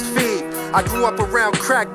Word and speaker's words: Fev: Before you mispronounce my name, let me tell you it's Feed.